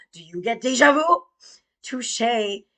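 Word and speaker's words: touché: Touche. It's pronounced touche.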